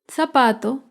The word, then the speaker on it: zapato: Zapato se acentúa en la penúltima sílaba, pero no lleva tilde porque termina en vocal. Zapato.